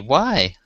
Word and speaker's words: Wednesday: and but you know it's easy enough to say it um, so that it is phonetically not corresponding to the way it's written. And people say Wednesday, like it's Wensday.